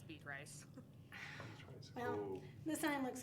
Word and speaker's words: Beatrice: it actually pronounce yeah how do you actually pronounce it but um it's beet rice the sign looks like beatrice so to